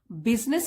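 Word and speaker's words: business: ओपोरर्चुनिटी means अवसर मौका बिजनेस की स्पेलिंग देख लीजिए यहां पे बिजनेस बोलते हैं लेकिन स्पेलिंग ये है बी यू एस आई तो स्पेलिंग िंग भी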